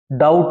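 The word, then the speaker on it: doubt: you have any डाउट यह क्या भी डाउट है बी साइलेंट है इसके अंदर अगर तुम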